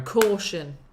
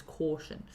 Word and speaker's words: caution: you go caution now it's a horrible sound because you've got a u which is very versatile in English so you've got a you could be like Laura but you've also got a you like um um um um give me a second and then there is another example um it can be pronounced in different ways but with caution it's caution uh my name my